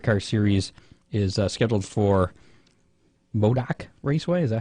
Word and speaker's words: Modoc: The last race of that Dryden Extreme Dirt Car Series is scheduled for Modoc Raceway. Is that how you pronounce that?